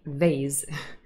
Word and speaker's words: vase: that was also why we wanted to say vase the american pronunciation and not vaz because otherwise it would not be the same as base now those kind of